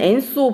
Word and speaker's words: ENSO: 아래에 있는 엔소 보도록 하겠습니다. 엔소는요, ENSO 해서 엔소라고 읽는데 줄임말입니다. 여기 줄임말을 풀이를 한 걸 보면 엘니뇨 사우선 오실레이션.